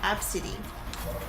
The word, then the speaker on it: ABCDE: Obviously, it's a bad thing for that man to do that, but the mom named her ABCDE, and she apparently pronounces it Absidy.